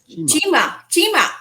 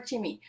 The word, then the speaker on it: Chima: Chima. I wasn't sure if it was Chima or Chimi.